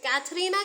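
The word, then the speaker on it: Katharina: ये कैथरीना के द्वारा कहा जाता है, कैथरीना के द्वारा ये कहा गया कोट है एक्ट 5 के सीन सेकंड में। तो यहाँ पे कैथरीना होना चाहिए, शायद मैंने ऊपर कैथरीन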